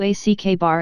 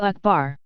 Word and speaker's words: Akbar: Same goes for Akbar. If you ack bar it, you screwed up. Closer to Akbar.